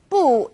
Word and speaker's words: 不: When used on its own, 不 is fourth tone, 不. When 不 is used before another fourth tone, it becomes second tone, 不谢 or 不用谢.